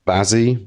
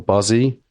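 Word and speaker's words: Bazzi: Other act we took on is called Bazzy or Buzzy. How do you spell that?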